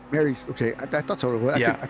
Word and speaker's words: Maris: Maris? Mary's.